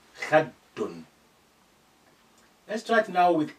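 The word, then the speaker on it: خدٌّ: So when you see that, you need to really reinforce your pronunciation for that dal or any letter with carrying sukun, carrying shadda. Because shadda, you need to be strengthening the letter. Khaddun.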